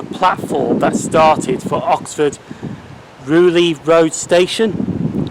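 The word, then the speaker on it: Rewley: And where that dead end is used to be the platform that started for Oxford Rugeley Road Station. It's spelled R-E-W-L-E-Y.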